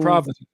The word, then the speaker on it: Providence: Providence.